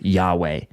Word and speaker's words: Yahweh: sometimes see and um in English we typically pronounce this as Yahweh um this is the most sacred name of